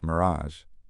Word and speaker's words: mirage: "Mirage is pronounced mirazh," Valancy snapped, picking up her tea and beans.